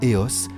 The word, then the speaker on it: EOS: MIS (pronounced as "Miss"), Welbio, IISN; or EOS (pronounced éoss), the research programme financed by the FNRS and